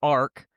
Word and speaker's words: ARC: So, um right off the bat, u pronunciation right, it is arc um spelled A RC uh arc.